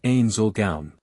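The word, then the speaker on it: Ainz Ooal Gown: It's pronounced Ain Zulgaun."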